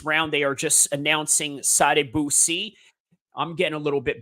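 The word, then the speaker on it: Sadibou: they are just announcing sad Bui I'm getting a little bit better with uh pronouncing his name it sounds like again saying Saddam Hussein but with a little pause in the end somewhere there so his nickname is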